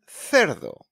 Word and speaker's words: cerdo: And then it's pronounced like a thanks, that sounds, when it's followed by a E and an I, like in ciclista and cerdo.